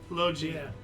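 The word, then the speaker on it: Logie: Lo Gi. Yeah. Soft G.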